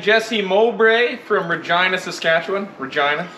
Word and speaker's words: Regina: Regina, town that names and rhymes with fun.